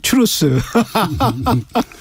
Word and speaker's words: 트루스: 예, 제가 추루스라는 트루스죠, 추루스. 예, 발음이 약간 좀 그렇습니다. 추루스가 원래 원 발음에 가까운 거 아닌가요?